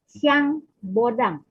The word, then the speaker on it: Jean Bodin: Dia orang Prancis, pengucapannya adalah "Zhan Bodan." Coba ucapkan itu—ucapkan suara sengau itu dengan benar. Silakan, Zhan Bodan. Zhan Bodan. Smart, bukan "Bodong," oke?